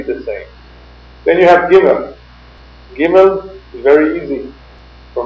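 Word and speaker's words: גימל: same then you have giml giml is very easy for most people giml pronounced like a g there's one group of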